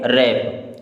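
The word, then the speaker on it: wrap: क्या पढ़ना है न्यू डब्लू आर ए पी W silent हो जाएगा क्योंकि इसके बाद में आर है अब इसे क्या पढ़ेंगे रैप क्या पढ़ेंगे रैप मैंने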